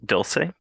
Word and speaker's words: Dulce: Um, there's also Swords and Sorrows and a book called, let me know if I'm mispronouncing this, Dulce.